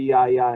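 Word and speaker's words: γιαγιά: In it, you mentioned that your grandmother liked to be called, is it Yaya? Is that how you pronounce it in Greek? Yeah, it would be Yaya in Greek.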